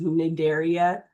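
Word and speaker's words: Cnidaria: You don't pronounce the C by the way. So this is nidaria and these are nidtoytes.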